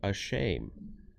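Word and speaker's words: אשם: It would be pronounced a shame, which is an English word, and it means, you know, make them ashamed.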